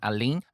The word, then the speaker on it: Alun: the Welsh comedian Steffan Alun. Alun is a Welsh pronunciation. You'll see his name spelled as A-L-U-N.